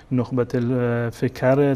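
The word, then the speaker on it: نخبة الفكر: ایشون توضیح دادن اولا گفتن که تلفظش همون نقب فکر هست ایشون گفت از زمان بچگی من این کتاب رو با استاد با پدرم خوندم که استاد شیخ هادی ابن علی مدخلی میگه من با همین اسم این کتاب رو می‌شناسم و تمام اساتیدی که من دارم و می‌شناسم و این کتاب را پیششون خوندم و ازشون شنیدم این کتاب رو نخبة فکر تلفظ می‌کنند اسمش این هست و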